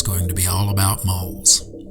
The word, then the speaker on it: Mul: is two on so in this video you'll hear me pronounce it as mole now I'd like to